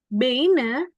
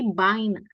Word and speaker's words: Beine: Beine itu bukannya bacanya beine tapi baina.